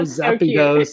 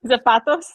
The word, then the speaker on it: zapatos: draw it so Lo Zappos you know I would draw I don't even know what that is anymore shoes it's shoes right Zapatos Zapatos yeah there it is you're just saying it wrong I didn't learn Spanish